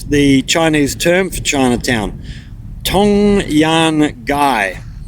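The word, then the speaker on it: 唐人街: They also helped establish the Chinese term for Chinatown, Tong Yan Gai, pronounced as Tang Ri Ji in Mandarin.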